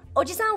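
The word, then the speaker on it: おじさん: Oji-san with a short I is uncle.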